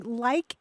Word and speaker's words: lack: lack La CK but it's pronounced in the South and South Midlands often as like oh yeah so it's